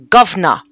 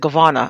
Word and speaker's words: governor: was checked just now apparently it's pronounced governor governor i said it wrong i said govana i think governor i'm learning things tonight